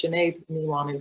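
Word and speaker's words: Sinéad Ní Mhainnín: to pronounce that, but clearly when you have an M and an H together, it's a W sound. And then that accent on the E turns the E into an A sound. So it's Sinead Niwanin, which is basically Janet Mannion in English.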